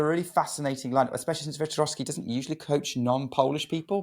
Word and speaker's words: Wiktorowski: Wiktorowski? I said it wrong. It's kind of like Wiktorowski. So like the Wiktorowski. W Okay. sound like V's.